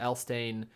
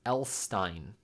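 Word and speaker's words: Elsztain: are just beginning when Mr elain sorry pronounced elstein okay huh speaks of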